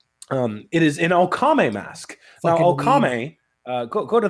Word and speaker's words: Okame: let me get my notes up so I pronounce them right. It is an Okame mask.